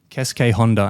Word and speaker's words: Keisuke Honda: Keisuke Honda. Am I pronouncing that right, Yuki?